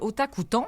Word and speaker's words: Otakuton: Alors, j'accueille présentement, on va accueillir Stéphane Latour du festival Otakuton. Est-ce que je le dis comme il faut? Oui, vous le dites bien comme il faut. Okay. Otakuton, c'est très facile à prononcer en français.